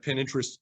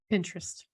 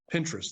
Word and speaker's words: Pinterest: San Francisco Liz Laura Waxman uh reported that pin interest is not going to renew a lease at 410 Townsend Street pin interest has a lot of or is it Pinterest I guess it's Pinterest Pinterest Pinterest there we go I always pronounce that incorrectly